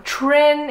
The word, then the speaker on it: Trinh: correct pronunciation in vietnam tren is like the Americanized one but jen is the correct one so she drew this